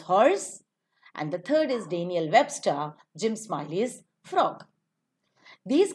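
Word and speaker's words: Dan'l: always Dan apostrophe l this is to be pronounced as Daniel it's a noun and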